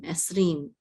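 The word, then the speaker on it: עשרים: And this is an ayin with a sego which says and then this is a sin, and the shava closes out the syllable. So this is s. This is resh with the chirik. So this is ri with the yud. It says ri, and the mem sofit closes out that syllable. So it's rim. Esrim.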